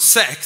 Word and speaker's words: sex: And then it became the 6K model, and then in Swedish, as you know, 6 is pronounced sex, so it was the 6K model, which was not very smart at all.